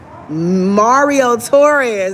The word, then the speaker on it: Marriott: Marriott That's how you say it.